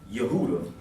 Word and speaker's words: Yehuda: have back here so the Jews is really supposed to be Yehuda or that's what that's how you pronounce our name yud you de Gentiles